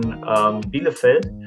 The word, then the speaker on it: Bielefeld: So right now we do that with Niederrhein, Hochschule Niederrhein, and the second one is Hochschule, that is the German pronunciation, Bielefeld, and that are 2 of the largest public universities of applied sciences in our state.